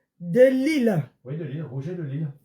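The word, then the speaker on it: Rouget de Lisle: Roger de Lill. Mais l'île avait euh Lî là ne s'écrit pas comme on entend. C'est L I S.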